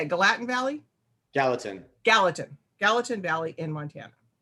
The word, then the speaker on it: Gallatin: how do you say it galatian valley gallatin gallatin gallatin valley in montana like i said earlier